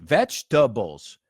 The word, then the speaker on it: vegetables: those fetch tah Bulls three syllables so lo que poner la palabra three syllables vegetables do you like vegetables